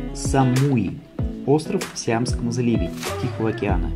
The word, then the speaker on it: Самуи: Всем привет Мы на острове Самуи правильным произносить Самуи остров сиамскому заливе Тихого океана является частью таиландской